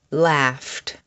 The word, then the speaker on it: laughed: Laughed, coughed, stuffed, fluffed. The sound at the end of these words is ft, ft.